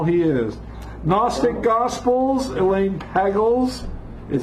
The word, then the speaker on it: Pagels: is Gnostic Gospels Elaine Pagels it says hegel hegel Gooden Bay glozell good bagels cuz it rhymes with bagels you know and you